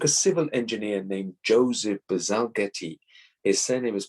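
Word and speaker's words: Bazalgette: solution it took a civil engineer named joseph bazalgetti his surname is pronounced basiljet okay so to come up with a solution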